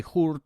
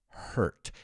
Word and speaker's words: hurt: We don't say hurt or hart, it's hurt.